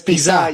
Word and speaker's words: Piza: It's Piza, yeah. Piza. It has a little line on the A, so it's Piza.